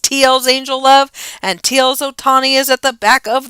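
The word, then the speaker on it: Ohtani: Otani.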